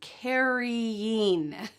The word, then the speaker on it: carrying: The next pair is caring versus carrying. Here you can hear that extra syllable. Caring, caring, and carry. Make sure you say that full root word.